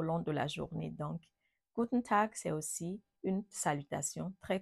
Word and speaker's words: Guten Tag: c'est gut tag gen tag gen tag donc Guten Tag c'est aussi le bonjour et ça peut s'utiliser tout au long de la journée donc Guten Tag c'est aussi une salutation très courante en allemand